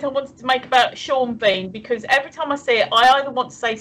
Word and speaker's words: Sean Bean: Bean his name yes Sean beam should either be seen Bean or Sean Bourne no Sean Bean don't look at how it's spelled I have seen how